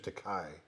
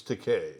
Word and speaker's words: Takei: i first met him i called him mr takai by accident and he came up to me goes actually it's takei rhymes with okay nice to meet you